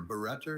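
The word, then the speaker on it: barretter: Better is the only pronunciation for this noun.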